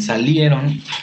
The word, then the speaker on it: salieron: La sílaba tónica en salieron es la I y la E.